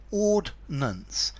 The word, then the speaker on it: ordnance: these two words firstly in theory they sound different when you say them ordinance ordance um the first one's supposed to be three syllables with the extra I and the second one is supposed to be two syllables the problem is everybody